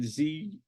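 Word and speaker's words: Zukor: You had Paramount, which was Adolf Zucker. It's an interesting pronunciation, Zuckor, but anyway.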